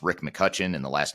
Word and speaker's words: McCutcheon: And just for those that are listening to the audio only version, it's Rick McCutcheon, and the last name is spelled McCutcheon. So there's an E in there that's silent, but it's McCutcheon, but